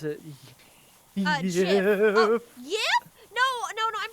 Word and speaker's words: GIF: Apparently, the creator pronounces it Uh, JIF. Yip. No, no, no. I'm pretty sure they said JIF. And And Yif is a joke that someone else made. They pronounced it with a J sound.